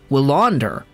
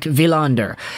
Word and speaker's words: Willander: oh his name is willander but I think it's a pattern everybody is familiar with by now in Swedish the W is translated into two v's so it's a hard quick villander and that's kind of